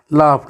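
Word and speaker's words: laughed: तो इसको भी हम क्या पढ़ेंगे, ई D sound is pronounce टा साउंड, तो इसको भी आखिर में लाफ्ट, एल ए यू जी एच ई डी, लाफ्ट।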